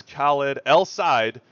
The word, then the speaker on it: Khaled El Said: That's Khaled El Said, which I learned how to officially pronounce his name, according to him, just today.